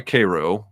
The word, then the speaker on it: Cairo: Coleman had been born in nearby Cairo, and if you're watching from out of state, that's how we pronounce it in Missouri, in 1932.